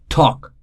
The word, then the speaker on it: talk: call it silent letter talk L is silent walk again L is